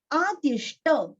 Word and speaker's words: आदिष्ट: आदिष्ट, दीर्घ और ष्ट का उच्चारण अच्छे से करना है।